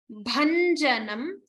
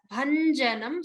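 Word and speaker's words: भञ्जनम्: Haram, Tripura, Bhanjanam. Focus on the Mahaprana Bha. And remember the Nya and Ja. Bhanjanam.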